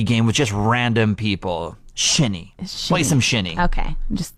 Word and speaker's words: shinny: Yeah, and you said it's pronounced a shinny?